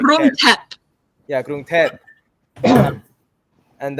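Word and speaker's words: Krung Thep: And then the T8, the tep, the H is silent. So just say like tep. Like Grung tep.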